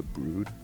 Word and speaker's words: The Broad: And then we went to the Broad, which I'm finding out is actually pronounced like the Brood, Mhm.